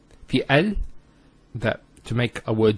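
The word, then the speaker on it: ال: that the Hamzah al-Wasl is always pronounced with a fatha. Not a kasra and not a dhamma. So it's always a, al-Bayt, al-Qamar, and so on. It's never ul, it's never il. It's always al.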